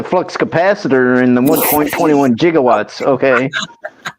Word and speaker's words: gigawatt: gigawatt but um I don't think it's improper pronunciation I think it can go either way I mean I've always said gigawatts but I mean you could go gigawatts I mean you could just pronounce the gig part more.